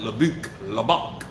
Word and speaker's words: Lubbock: Most people that's not from Texas, they cannot pronounce that. They be like Lubbock.